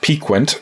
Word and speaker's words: piquant: I had to look up on Google how to pronounce this word, but apparently it's pronounced Piquant. So we have Piquant Potioneer.